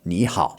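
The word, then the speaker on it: 你好: Now, this is two third tones in a row, but if you were to say ni hao, and then you try to say that fast, ni hao, it gets a bit awkward, okay? So, they change the first tone to a second tone, ni hao.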